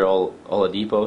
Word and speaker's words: Oladipo: Victor Oladipo, is that how you pronounce that?